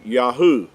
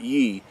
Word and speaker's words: Yah: Creator's name right here, the Yod and the He, would give you the pronunciation of Yah and not Ye.